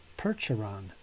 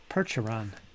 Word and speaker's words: Percheron: Percheron. Percheron. Percheron. All right. So, it's percheron. Perch like a fish.